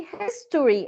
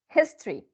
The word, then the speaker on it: history: well done good voices if we say history it's okay it's correct but if we allow it this this vowel or this it's terrible it becomes history history okay excellent what about